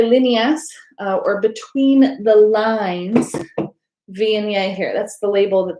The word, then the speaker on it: Viognier: Next white wine is a Viognier, is how the grape is pronounced.